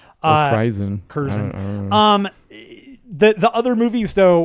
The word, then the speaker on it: Krizan: Is that how you pronounce her name? It's spelled Krizan. Oh, Kirzan. Sorry, I missed the Z. Kirzan.